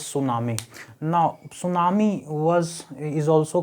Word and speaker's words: tsunami: with this word here t is silent so we read this we pronunciate it as tsunami now tsunami was is